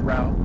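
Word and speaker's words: Rowe: We're getting off onto Rau Boulevard, and it is pronounced Rau, R-O-W-E.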